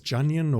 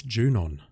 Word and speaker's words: Junon: I was never sure it was Junyon or something else, but no, it's Junon.